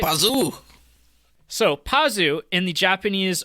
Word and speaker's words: Pazu: So, Pazu, is that how you say it right? Pazoo!